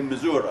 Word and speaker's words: Missouri: All these towns in the United States, you have ways of pronouncing. I was in Louisville a few days ago, and I told it's Louisville. Yeah. And if you're in Missouri, you're not really there until you say Missouri, and so on.